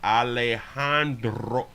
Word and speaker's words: Alejandro: Oh, the J is silent. Alejandro. Gotta do your R.